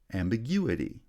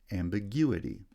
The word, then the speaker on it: ambiguity: on the second syllable ambiguous has secondary stress on the first syllable primary stress on the second syllable ambiguity right when the itty ending is replaces the us ending it changes the placement of stress secondary stress remains on the first syllable but primary stress is shifted to the third syllable ambiguity compose has stress on